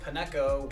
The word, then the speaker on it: Pineco: Pretty sure it's pine hyphen co. That seems like a crazy way to pronounce something cold.